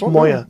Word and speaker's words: Moyer: How can you not say his name? It's Moyer. Moyer. It's pretty simple, isn't it?